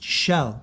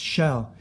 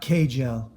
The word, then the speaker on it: Kjell: And that name is Norse or Danish, and it's Shell. It's pronounced Shell, not Kjell.